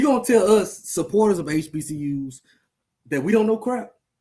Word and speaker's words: HBCUs: what we talking about hbc's we don't say hbcs we say we say hbcus so Mr Know It